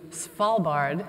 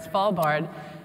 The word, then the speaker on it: Svalbard: have i've been to Svalbard I got that right spall bard for the it helps if you say it like a pirate or a small bar bard in Spitsbergen Norway so